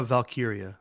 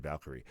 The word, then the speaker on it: Valkyria: me out lra L valkyria valkyria see I said Valkyrie valkyria so it's going to